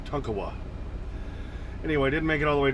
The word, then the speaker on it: Tonkawa: When I used to say Tonkawa, and somebody corrected me in the comments saying, no, it's Tonkawa. So like your toy truck as a kid, Tonka, just add a wa, Tonkawa.